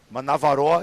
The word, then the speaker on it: Manavaroa: Now, Manavaroa is kind of more of a Tahitian or a Cook Islands pronunciation. How would you say that in Maori? Oh, give me just Manavaroa is how we would say it. We'd follow on with that. And we'd roll the R, roll.